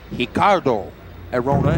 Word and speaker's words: Ricardo Arona: top team he is hicardo arona and it's uh it's actually spelled ricardo but the brazilians pronounce that r with an h sound coming into the arena